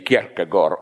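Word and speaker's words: Kierkegaard: in a biography of how to pronounce it correctly kagor okay we in the corrupted way say Kar he was I think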